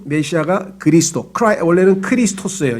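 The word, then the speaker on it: Χριστός: 메시아가 그리스도 크라이 원래는 크리스토스 에어 2 제 2회 2 저 그리스식 발음으로 하면 크리스토스 이것을 영어로 하면 은 발음이 조금 달라져서 크라이스트 가 되고 그것도 우리말로 하면 이제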